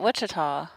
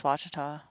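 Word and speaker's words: Ouachita: oh speaking of which Laz was at Wichita I watch like I really know how to pronounce it no doubt awesome it is Washita did you happen to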